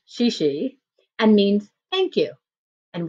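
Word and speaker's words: 谢谢: 2 and said she she which is pronounced she she and means thank you and we headed further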